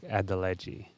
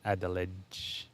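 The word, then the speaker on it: Adeledji: Yeah, it's like Adeleji, not Adelege. Adelege.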